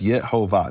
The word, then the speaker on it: Yehovah: God throughout the ages, what did they believe the vowels to be? And they pretty consistently transcribed the vowels when they put in the full set of vowels as Yehovah.